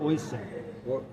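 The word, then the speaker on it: Oisín: Oisin.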